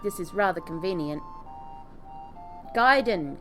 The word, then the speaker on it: Gaiden: this is rather convenient giden guy g a i it it's spelled at the bottom of